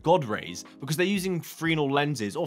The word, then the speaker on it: Fresnel: rays, because they're using Fresnel lenses, or Fresnel, however you want to say it, but I believe the S is silent, which is a fun fact.